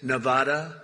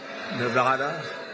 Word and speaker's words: Nevada: you're not allowed to do that you you mispronounce the name you got a problem you ever see somebody when they say it's Nevada Nevada no they're they're in deep they're in deep